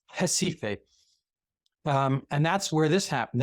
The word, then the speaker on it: Recife: Up here is pretty much urban northeast Brazil, and it's centered around, it's spelled Recife, but it's Recife.